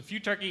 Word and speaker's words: futarchy: is few turkey so few turkey is pronounced like the word future with the suffix R key that's using words like anarchy and monarchy and few turkey is